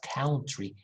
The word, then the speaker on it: country: schwa above and then country country not country country a short ah country next ah so